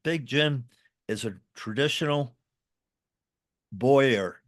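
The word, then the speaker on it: bowyer: And Big Jim is a traditional boyer. Did I say it right? A boer? Boyer. Yep, Boyer Boyer. is right. So I did say it right.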